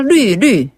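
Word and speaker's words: 流: 하다라는 그런 뜻으로 화화 류류 아 그거 참 말이 재밌네요 화화 류류네 이때 류 발음은 너무 짧게 하지 마시고요 조금 더 길게 류루 류류 화화 루루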